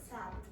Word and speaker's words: sad: Pronounce the last consonant. If you take it out, it is so hard for English native speakers to understand what you're saying. Do it again. Sad.